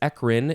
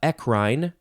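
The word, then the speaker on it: eccrine: this is two words ekrin is e c c r i n e you can also pronounce it uh ekrine or echrine eckerin ekrine ekrine it is a gland a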